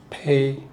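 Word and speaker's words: 屁: 거예요 방귀 소리와 비슷한음 중국 보통화는 중국어에서는 이거를 피라고 읽어요 근데 광동 광동어는 페이 페이라 읽어요 자이 글자에 현혹되면 안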